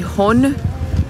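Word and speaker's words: Rhône: do rio ródano que aqui se falasse que Roni que a desse jeito que se escreve r h o n e ele nasce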